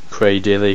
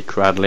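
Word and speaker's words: Cradily: Cradilly, Cradley, I don't care how it's pronounced, they both work.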